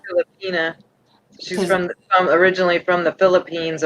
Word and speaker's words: Filipina: All right, so you're now, do you pronounce that Filipina? Filipina.